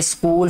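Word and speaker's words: school: Hamza and Azlan are माय स्कूल friends. अब स्कूल में जो एच है ये साइलेंट है, ठीक है, स्कूल ऐसे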